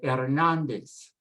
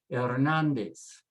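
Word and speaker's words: Hernández: first one on this the h is silent so start with an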